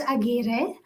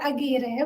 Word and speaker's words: Aguirre: It is Aguirre. My husband is really passionate in rolling the R every time I say the word Aguirre.